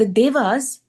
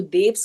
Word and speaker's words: Devas: संगत जी है तो देव, लेकिन इंग्लिश में या तो देव्स कहा जाए या देवास एक ही बात है, क्योंकि वो इंग्लिश में कुछ हिंदी वर्ड्स की प्रोनाउंसिएशन थोड़ी सी बदलनी पड़ती है।